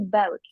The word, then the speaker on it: buik: Di sini bukan buik ya bacanya, tapi baut.